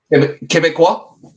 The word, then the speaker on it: Québécois: Québécois.